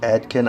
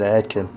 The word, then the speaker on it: Advken: is the new adkin think that's how say that adkin I say it adkin that's spelled [ __